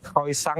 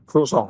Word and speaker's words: croissant: itu dari Prancis. Penyebutannya croissant. Tapi kita kan selama ini nih pasti Ya. yang nonton juga pasti ngomongnya croissant. Croissant ya. Ah. Tulisannya begitu. Bacanya croissant. Croissant.